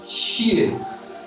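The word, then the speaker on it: 谢: For this, we have a Chinese word, xie. X I E. In Chinese, X is pronounced as sh.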